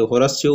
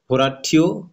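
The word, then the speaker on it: Horatio: আর হোরাসিও হচ্ছে আপনার হ্যামলেটের বন্ধু, এখানে হোরাসিও উচ্চারণ বাট হোরাঠিও আমরা উচ্চারণ করি, ব্যাপার না।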